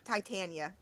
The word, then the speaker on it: Titania: I was right. Titania. Okay, good. We said it right.